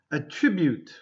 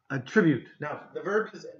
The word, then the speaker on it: attribute: different pronunciations okay so sometimes a verb and the noun have a different way to pronounce them so it's a little